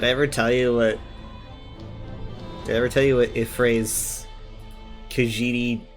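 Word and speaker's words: Y'ffre: I would Do they really pronounce Y as I? I would assume so because that's how Ifray is pronounced. Yeah, that's a fair point. So I would assume that it's probably Ifray.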